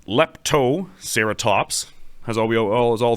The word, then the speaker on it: Leptoceratops: going to pick on it too much it's pronounced lepto serat Toops as all we as all things serat Toops